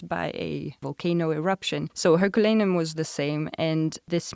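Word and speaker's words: Herculaneum: Roman city of I'm not sure how you pronounce it in English, Herculan. Herculanium. Yeah. Herculanium. Yeah.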